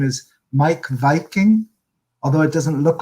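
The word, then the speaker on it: Meik Wiking: that some people may know his name is mike viking although it doesn't look like it's pronounced that way he's um he's from denmark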